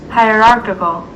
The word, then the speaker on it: hierarchical: Hierarchical. Yeah, hierarchical. It's like hard to pronounce because you gotta say like kakol, which is difficult to say.